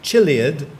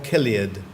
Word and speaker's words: chiliad: and number 21 21 you have two pronunciations for your word you can either have chilliad or Gilead chilliad or chiliad yes or a thousand things